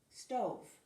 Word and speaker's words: stove: Stove. Stove. Silent E at the end. We don't say stove or stovey. We write it, we don't read it.